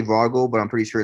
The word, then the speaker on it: Vogel: So that's all I really had for Marcel Vogel. I say Vogel, but I'm pretty sure it's Vogel.